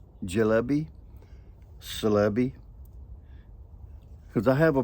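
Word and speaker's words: Çelebi: it in Turkey because the C is pronounced with the J so I'm going to call it jalbi c e l e b i e jby cby cuz I have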